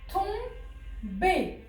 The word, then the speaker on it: tomber: Le son ON, il est écrit en OM. Regardez.